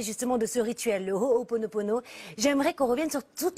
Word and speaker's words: Ho'oponopono: eux, le Ho'oponopono, le Ho'oponopono, et tu l'as très bien dit, Karine, très bien prononcé, mais nous on le dit à la française, Ho'oponopono, et bien il était incorporé dans la pensée Aloha, Aloha.